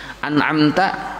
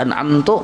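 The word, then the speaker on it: أنعمتَ: An'amta dibaca an'amtu, berubah arti. An'amta damir anta, an'amtu damir ana, berubah sudah arti jauh benar.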